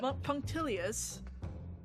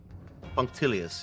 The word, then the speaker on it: punctilious: How to pronounce whatever that is in English. Hang on. Punctilious. What the heck? Punctilious.